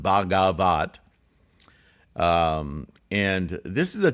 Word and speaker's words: Bhagavat: website um it's uh it's a noun pronounced bagavat um and this is